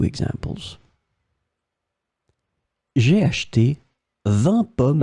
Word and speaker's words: vingt: So as you can see in that case, it's the number and it's pronounced the same way. 20, 20.